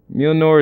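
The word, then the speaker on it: Mjölnir: Mjolnir is how you say it. Yeah. Is how you pronounce it.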